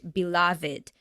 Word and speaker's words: beloved: no e sound but beloved uh with the e sound here what is your beloved